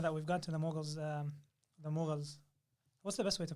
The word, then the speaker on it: Mughal: Okay, so the next question, maybe now that we've got to the Mughals, what's the best way to pronounce it?